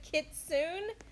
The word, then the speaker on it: kitsune: the pet's name you guys it's called a kitsune yes oh okay cool what is it called am I saying it right kitsune a kitsune is the name of this pet you guys I said kitsune in my last video but the correct way